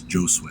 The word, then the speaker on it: Josue: it going Jo and that's actually how you pronounce his name that's right not hos it's joose not JH name cuz you know you''ll be